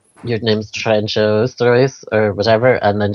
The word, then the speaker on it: Trijntje: I was like is your name your name's Tren show St or whatever and then she's like she pronounces in the door train I'm like okay okay and then anyway was